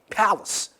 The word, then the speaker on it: palace: It is pronounced with a buff of r, by the way. Palace. Palace. It's pronounced with a buff of r. Palace. So we have here the stress is on the first syllable.